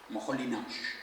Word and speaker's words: Moholy-Nagy: la Bauhaus es este señor, que es Laszlo Moholy-Nagy, así me han dicho que se pronuncia.